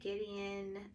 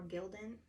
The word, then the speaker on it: Gildan: messy crafting um i'm going to press a gideon um or gildan pretty bad at pronouncing things today uh gildan heavy cotton um